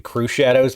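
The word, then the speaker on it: Crüxshadows: I think it's supposed to be Crew Shadows, but I call it Crux Shadows because that's how it's spelled, and that's funnier to me.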